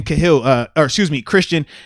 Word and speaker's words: Cahill: And also shout out to you, Christian Cahill, Christian Cahill.